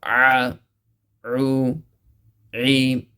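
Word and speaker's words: ع: So again, ain is pronounced from the middle of the throat, same place as ha, but you have to give a little stress in the throat. A, u, e.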